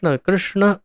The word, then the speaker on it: कृष्ण: श्री कृष्ण लिखा है, तो गुजरात में और उड़ीसा में क्रू उच्चारण होता है इसका, क्रू। कुछ जगहों पर क्री उच्चारण होता है, लेकिन वास्तव में कृ यानी कि न क्रू है न क्री है। एक अलग ही प्रकार से जिह्वा को उसे मोड़ करके उसका उच्चारण होता है कृ।